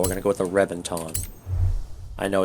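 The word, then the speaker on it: Reventón: gonna go with the rebenton i know it's with a v but in italian and spanish that can often be pronounced as a b so it's actually pronounced as rebentone beautiful car added a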